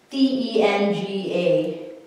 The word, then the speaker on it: tenga: or sometimes when we write it down we spell it like this it's like tena t-e-n-g-a yeah so tenga or and then neck is